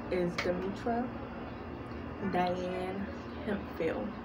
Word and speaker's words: Hemphill: name is demutra diane hempfield now you can pronounce him fill with the ph making the f sound or him heal him